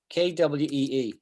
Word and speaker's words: soliloquy: The last bit, the last syllable is qui. Qui. Qui. Yeah, emphasize on the qui. Yeah. Soliloquy. Qui. It's like K. Think of it like as if it was written like this. Kwee.